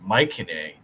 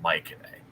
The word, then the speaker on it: Mycenae: turns into a war machine, and nobody wants to fuck with Mycenae. It's pronounced And, Mycenae? Yes, I thought it was C's are like hard K's in ancient Greek.